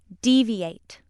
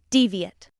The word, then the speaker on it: deviate: Word 8 has two pronunciations. When it is used as a verb, it's pronounced deviate. When it's used as a noun or an adjective, it's pronounced deviate.